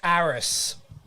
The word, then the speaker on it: Ares: Okay, Ares, I believe it's pronounced, is the Greek god of war and Ares? courage. Is it Ares? It's spelled A-R-E-S.